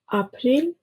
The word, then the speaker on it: April: In English it is pronounced as ‘A’, and in German it is pronounced as ‘Ah’.